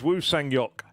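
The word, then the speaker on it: Woo Sang-hyeok: I'm still going to go with the correct Korean pronunciation of it. It is Wu Sangok.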